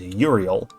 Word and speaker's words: Euryale: In the frontier land towards night, where are the clear-voiced Hesperides, the land called the Hesperides, Steno and Euryale, more modern English would pronounce it as Uriel, and Medusa, who suffered a woeful fate.